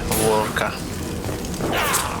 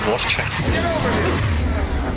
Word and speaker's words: Vorcha: Ворка. Хотя читается ворча.